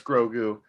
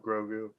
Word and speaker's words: Grogu: know that it's called grogu you didn't have to spell it out like that what the hell he spelled out like grow like the word grow and the word do separately would somebody saying it